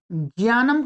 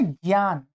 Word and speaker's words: ज्ञान: इसका उच्चारण आप ठीक करेंगे। क्या करेंगे? ज्ञान। इसमें क्या है? वास्तव में मैंने वर्णो उच्चारण की नौ कक्षाएं आपको दी है। उनको अवश्य पढ़ लीजिएगा। नहीं पढ़ा है आपने तो। इसके अंदर वास्तव में क्या है? ये ज ञ और ये आ ऐसा ज्ञान नहीं है क्या ज्ञान